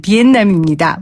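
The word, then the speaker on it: Việt Nam: 3535님 베트남 원토 발음 비엔남입니다.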